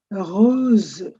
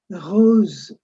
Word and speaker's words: rose: rose It ends in a z. rose Black is noir.